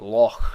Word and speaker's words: Loch: So like Loch Ness is actually pronounced that way, not Loch Ness. The K is not pronounced, but instead CH is pronounced more like just a raspy H sound.